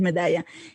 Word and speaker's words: Medalla: The pronunciation is Medalla.